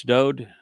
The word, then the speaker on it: Dowd: who know and accept Yahweh's pronouncements that it's Dowd, who the world calls David. It's just a mispronunciation of his name. It's Dowd.